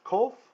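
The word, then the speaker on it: קוף: Okay, this next letter is Qoph, or Kuf. I learned it as Kuf. There's different pronunciations, whatever. This is a Q sound, but it's not QU. It's not Kwa, like queen. It's K, K, K.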